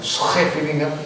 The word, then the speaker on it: Scheveningen: Di pantai Scheveningen, ya, di Den Haag. Itu ada, iya bacanya orang begitu. Itu bahasa Belanda begitu, banyak hoknya.